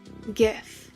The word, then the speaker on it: GIF: you would pronounce it because G stands for graphics so it would be gif foreign it's Graphics so